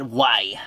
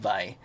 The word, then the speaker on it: Wai: designs just to let you know don't say why that's first time I seen it I was like why why w AI but it's actually pronounced by so W a why why is water you